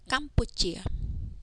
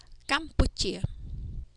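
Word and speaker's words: កម្ពុជា: This word is read Campuchia. Okay, mo is the ending consonant of the first syllable kam. Okay, subconsonant po is the initial consonant of the second syllable. Okay, so po upu and then chu chia. It is pronounced as ko am kam po upu chu chia. Campuchia.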